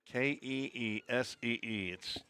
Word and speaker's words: Kazee: I assume that's K-U-H, like K, or is it KZ? Kim, I need you to reply back from Bristol, Tennessee. I need a little more pronunciation guide on that. KZ or Kuzzy? Keesee. It's basically Smith.